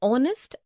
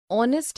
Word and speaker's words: honest: also an heir an honest an hour because the words air honest an hour begin with a vowel sound as the initial consonant H is not pronounced article one we use